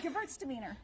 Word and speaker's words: Gewürztraminer: Gewürztraminer.